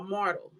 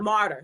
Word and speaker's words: martyr: And made a decision that yes, he is a mortal, mortal. Yeah, I said it right, right? Mortal, A martyr. martyr. Sorry, yes, a martyr.